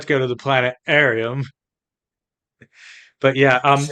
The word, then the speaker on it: planetarium: Adams welcome to the planet Arium I thought it was planetarium well it is but I have a bone disease which impedes my ability to pronounce the T in Planet arum that's a pretty weird